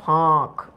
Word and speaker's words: ফাঁক: আচ্ছা এখানে কিন্তু চন্দ্রবিন্দু আছে উচ্চারণটা হয় ফাঁক।